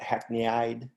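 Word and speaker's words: hackneyed: essentially and then finally hackney or i mean some people pronounce it hackney-eyed but that just means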